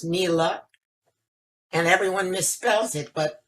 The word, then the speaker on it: Niela: name as you heard also presents problems it's pronounced me luck and everyone misspelled it but hey if that's